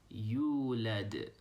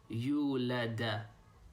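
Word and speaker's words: يُولَد: The sound that we're making, the D sound at the end, doesn't have an A sound on it, okay? So make sure you don't say yulada, yulada. But it's neither muted either.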